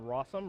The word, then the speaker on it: Rossum: miller's pick is jonathan rossum rhymes with awesome uh that's how i remember how to say his last name a little cheap trick